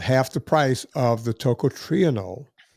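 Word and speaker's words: tocotrienol: You'll notice that it's about half the price of the toot triionol. Hilcatrienol is spelled t o c o t r i e n o l. Toot triionol.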